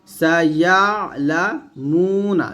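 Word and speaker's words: سيعلمون: এখানে এই যে আইনের উচ্চারণটা, আমরা অনেকে আইনের উচ্চারণটা একটু সমস্যা করে ফেলি, আইনটা একটু চাপ দিতে হবে।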